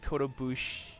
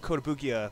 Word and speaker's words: Kotobukiya: thank you for the subscription you mostly collect Kota Boosh who showed you Oh Kotobukiya BuChE BuChE Oh Joe figures I got you